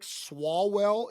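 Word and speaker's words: Swalwell: Because you have Eric, uh, Tom Styer, Katie Porter, and then a new guy just jumped in, Eric Swallwell. Is that how I pronounce it?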